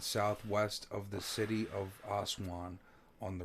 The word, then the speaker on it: Aswan: ma'am it's arrested what ok Aswan are pronounced asan lies 934 kilometers south